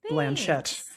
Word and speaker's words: Blanchett: Kate Blanchett rhymes with planet and Corvette coming along for the ride.